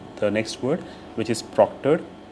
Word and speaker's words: proctor: Proctor sounds like doctor.